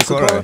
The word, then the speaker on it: Sikora: I said the last name right? Sikora. Yeah. Okay. Joseph Sikora. Italian? Sikora. It's Polish.